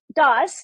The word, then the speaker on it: Das: this your name Dr Das is that the the right pronunciation for that very close dos yes you said the last name right Dr dos please